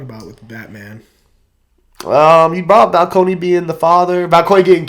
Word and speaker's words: Falcone: Do you really want to keep Maroni when you could just have some basic Falcone? I mean, I'm sorry, Falcone. Yes. Falcone. Falcone. That's how you pronounce it. Falcone.